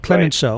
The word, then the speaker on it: Clemenceau: statesman in France, George, I always mispronounce his last name. Is it Clemenceau? Clemenceau. Right.